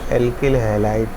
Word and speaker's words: alkyl halide: अल्काइल हैलाइड, इसको हिंदी में एल्किल हैलाइड pronounce करते हैं।